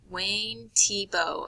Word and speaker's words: Wayne Thiebaud: is Wayne Tebow and you can see up here how his name is spelled but it is pronounced Tebow and that is going